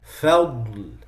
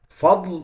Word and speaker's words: فضل: So some people say بنعمة من الله وفضل. فضل is wrong. فضل, فضل. That's the right pronunciation.